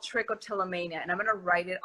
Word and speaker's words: trichotillomania: Okay, so I have a condition called trichotillomania, and I'm gonna write it on the comments so that people can trichotillomania.